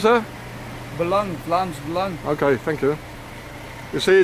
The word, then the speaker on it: Vlaams Belang: I don't know, how do you pronounce that? Belang, Vlaams Belang.